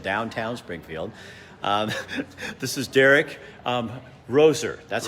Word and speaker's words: Roser: This is Derrick Roser.